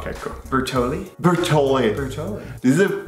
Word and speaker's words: Bertolli: Bertolli?